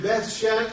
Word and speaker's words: Beth: they who are in Beth bethan and the word Beth is the equivalent of today's bait uh it's just spelled a little different pronounced a little different and it's towns and